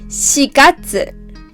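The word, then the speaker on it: 四月: We say 4月 4月 not 4 4月 The next one is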